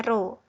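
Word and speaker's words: rho: Ya Robbi ini yang seperti P ini dibacanya roh atau massa jenis atau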